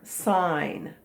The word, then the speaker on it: sign: stop sign sign mother will sign my planner sign that's that word so it looks like cigna